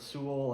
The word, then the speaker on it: Soule: And there are a few different pronunciations you may have heard for his name. Some might call him Soule. I've heard Soule, and that's what we'll be going with today.